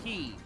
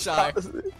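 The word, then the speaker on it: χ: It's Kai, pronounced key. Nope, I'm pronouncing it Shy.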